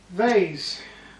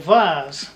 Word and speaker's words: vase: a very nice presentable vase or vars whichever you want to pronounce it so there you are